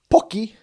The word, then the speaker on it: Pocky: For the Asians, we have pocky.